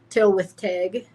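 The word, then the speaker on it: Tylwyth Teg: hidden people holder folk literally means hidden people till with TIG is Welsh she that's how you pronounce that Scotland which is also where we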